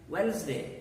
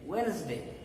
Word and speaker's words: Wednesday: this one more interestingly here again d is silent s gives the sound